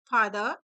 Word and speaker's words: father: यहाँ पर are silent होता है, आर को साउंड नहीं करते। तो कैसे प्रोनाउंस करेंगे, फादर, जिसका मतलब होता है पिता।